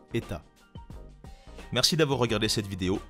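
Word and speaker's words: ETA: ne t a pourtant la prononciation correcte des états en tout cas c'est comme cela que le prononce les membres des équipes deux états dans leur entreprise en suisse son nom complet est d'ailleurs état est sa manufacture horlogère suisse lors d'interventions anglophone on entend souvent des amateurs d'horlogerie voir des experts du secteur et peler les trois lettres en anglais et donc appelé la marque itier si vous connaissez un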